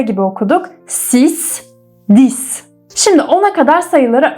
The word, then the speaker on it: six: SK 6 sis. Sis. Six demiyoruz ingilizcedeki gibi sis diyoruz. Sanki X'i S'ymiş gibi okuyoruz.